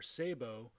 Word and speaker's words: sabot: of a rifled barrel are sabot, or often pronounced sabot slugs. I typically use the sabot pronunciation not because it's correct, but because it sounds like it's spelled and feels less pretentious.